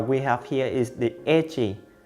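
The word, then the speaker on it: ecchi: have here is the edgy the name comes from the word H in hentai pronounced as Aichi in Japanese the story that has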